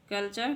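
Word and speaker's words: culture: यदि शब्द में एस के बाद टी आई ओ एन आए या टी के बाद यू आर ई आए तो टी का उच्चारण च होता है।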